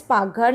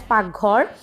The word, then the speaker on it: Paghar: Kitchen in Assamese is known as Paghar. So it is the tone we used to spell like that. It is known as Paghar. You can pronounce it. So in Assamese we call the kitchen as Paghar, and since the Maagh